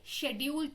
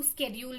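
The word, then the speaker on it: schedule: जैसे शेड्यूल तो जो था उसकी प्रोनाउंसिएशन चेंज हो गई, उसको स्केड्यूल भी कहा जाता है.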